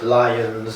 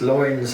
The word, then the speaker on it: Loynes: people can't pronounce it lions and lions blah blah because i think they're used to l-y-o-n-s yeah the french exactly um but yeah it's it's loins and it's dutch and it's from like